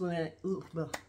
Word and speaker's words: LVNEA: It's LVNEA, but it's pronounced LVNEA.